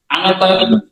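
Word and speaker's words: あなた: শব্দটা আছে সেটা হচ্ছে আনাদা আনাতার উচ্চারণ আনাতা এটা আপনে বলে আপনি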